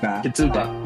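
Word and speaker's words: ကျေးဇူးပါ: Kizuba? Zuba. Kizuba.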